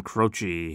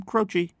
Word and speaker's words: Croce: a nice short name, Croce. That C sounds like a CH, Croce, sounds like a CH.